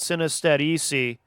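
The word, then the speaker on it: Sinestetici: it's spelled s-i-n-e-s-t-e-t-i-c-i so i'm choosing to pronounce that synostetic um but you can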